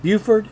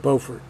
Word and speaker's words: Beaufort: or is it botator is it buford or is it beaufort now that's a trick question because it depends on what state you're in there is also this